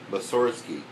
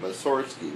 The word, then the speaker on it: Mussorgsky: He always pronounced his name Mussorgsky, with the accent on the first syllable. Oh, Mussorgsky. Nobody ever listened to him, and today we all pronounce it Mussorgsky, which sounds right to us.